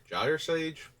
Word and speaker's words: Gyre Sage: Gyre Sage? When it's Ulamog, I prefer the hard G because it sounds more menacing. For creatures that are not Giant Doomsday Eldrazi, I think it's Gyre, like Gyroscope.